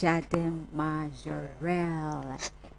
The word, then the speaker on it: Jardin Majorelle: Am I pronouncing it right? Yes, in Marrakesh. Jardin Majorelle.